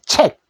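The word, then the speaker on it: check: 체크인데 요거를 받침으로 하면은 책 소리 하나로 내십시오. 책. 근데 우리는 우리나라 말로는 그냥 체크라고 해도 됩니다.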